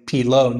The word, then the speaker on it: Pillot: I had to be told how to pronounce it yesterday because I was saying Pillot, not Pillot. Over here at Laurent and Demo.